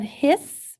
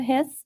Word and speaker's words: His: to the bundle of hiss which is actually pronounced like like it has an extra s on it okay the bundle of hiss the right and left